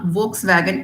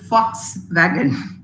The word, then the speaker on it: Volkswagen: is there good attempt it's not Volkswagen it is called Fox wagon that's what I said it's a funny language though the spellings in writing you write v o l k s you pronounce it as fox fox wagon now the next one